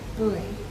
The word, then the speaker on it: buoy: The next day was spent at a buoy, B-U, American pronunciation, buoy, is that correct?